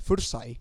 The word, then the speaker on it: Førsaj: El tema con ese nombre es que no importa cómo lo pronuncien, o sea, como lo leas es como se dice. Forsagt.